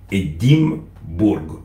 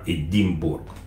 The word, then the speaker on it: Edimbourg: Donc, si vous pouvez le prononcer en français, c'est Edimbourg. Hein, Edimbourg. Voilà.